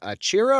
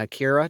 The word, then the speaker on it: achira: This is Canna achira or Canna akira, depends on how you pronounce it.